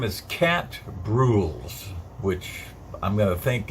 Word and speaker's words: Brules: Well, his name is Cat Bruels, which I'm going to think is rhymes with jewels.